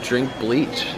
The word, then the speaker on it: Drinkbleachh: Yeah, I am Drinkbleachh. With two H's. Two H's, no spaces. See, I wasn't sure if the H's altered the pronunciation at all. It was like Drinkbleachh. No. Yeah.